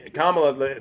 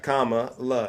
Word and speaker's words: Kamala: I I really don't you said Kamala yeah kamla the punctuation you know the punctuation mark comma La it's simple okay okay Comm okay